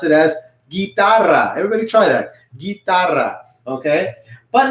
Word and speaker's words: guitarra: have a guitar okay in spanish you can pronounce it as guitarra everybody try that okay but now we have